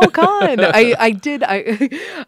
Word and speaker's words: Kahan: And I asked for the proper pronunciation before you came here because I've heard it said so many times. Kahan. Yes, welcome, Paul Kahan. I did ask ahead of time because I've heard Kahan, I've heard all these different